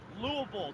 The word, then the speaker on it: Louisville: Louisville or Louisville? Louisville, the right way. Louisville. Okay, that's how I pronounce it.